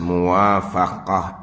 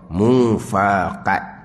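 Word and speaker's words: موافقة: Jadi kalau terbaca kok mufaqat jadi. Tak. Dia nak mim, waw, alif, pe, qaf, te marbutah. Itu muwafaqah. Menentu atas muwafaqah ilmunya ilmu Allah. Artinya menentu atas muwafaqah ilmunya ilmu Allah.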